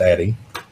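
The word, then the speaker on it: Addyi: from The Authority which is myself it is pronounced Addie uh Addie being called the female Viagra um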